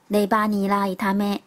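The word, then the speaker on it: レバニラ炒め: 猪肝炒韭菜念作 Leba ni la itame， Leba ni la itame。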